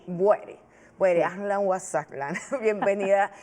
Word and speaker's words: Boueiri: Se pronuncia Boeri. Boeri.